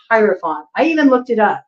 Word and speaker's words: hierophant: trying to correct myself I always want to say herant but it's hierophant I even looked it up to make sure that I was pronouncing it correctly it is hierophant okay so whatever this